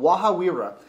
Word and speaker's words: Waha: fantastic product out of New Zealand it's called wahaa now being that I'm Latino you think I